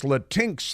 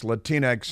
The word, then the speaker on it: Latinx: but they've got this latinx thing which they try to pronounce latinx and Joe Biden can't pronounce it all but um it's supposed to be Latin X Latin X excuse but it makes